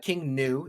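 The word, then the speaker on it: King Gnu: musician is king uh king new is how it's pronounced he's a japanese artist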